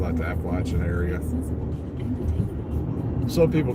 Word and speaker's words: Appalachian: am, they don't know that it's the Appalachian Mountains, not the Appalachian Mountains. So they pronounce it wrong.